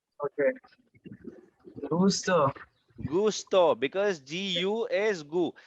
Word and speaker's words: gusto: So this one, Gasto. no, it's a U, not A. Okay. Gusto.